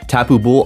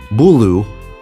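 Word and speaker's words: Tapu Bulu: Tapu Bull on the 17th. Tapu Bull, Bulu. There you go, better. Somebody's like, oh, he's not saying it right.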